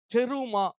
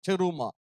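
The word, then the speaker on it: terumah: ஆனா ஒரிஜினல்ல ஹீப்ரு பாஷையில இத என்ன சொல்லுவாங்கன்னா, டெருமா அப்படின்னு சொல்லுவாங்க. டெருமா.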